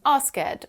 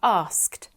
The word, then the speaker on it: asked: One of the most common pronunciation mistakes I hear is when students try to pronounce the E at the end of the word and end up saying asked or travelled. They should be asked, travelled.